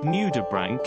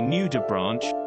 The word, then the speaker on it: nudibranch: when looking at the spelling of the word nudibranch it would be easy to say new to branch but the correct pronunciation is nudibranch number two on the nudibranch's